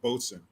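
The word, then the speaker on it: boatswain: but it's spelled boat swain but it's pronounced pronounced boats in i don't know why i do that but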